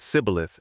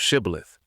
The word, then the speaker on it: shibboleth: And then there's the famous shibboleth story in Judges, where Ephraimites are said to pronounce it sibboleth instead of shibboleth.